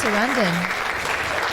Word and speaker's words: Sarandon: I think it's Sarandon, like Streisand.